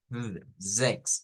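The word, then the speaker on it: sechs: Zex, o sea, una Z vibrante. Zex. En cambio, esta es una S normal o silbante. Y aquí se hace un sonido una E abierta. Sex, sex. Y esta, ¿verdad?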